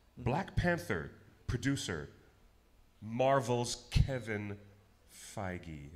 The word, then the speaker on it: Feige: Black Panther, producer Marvel's Kevin Feige. Is it pronounced Feige? Feige, yeah. That's correct.